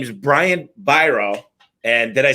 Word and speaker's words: Biro: His name is Brian Biro.